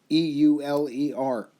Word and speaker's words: Euler: actually was discovered by a mathematician named euler e-u-l-e-r euler is how it's pronounced so he thought highly of himself and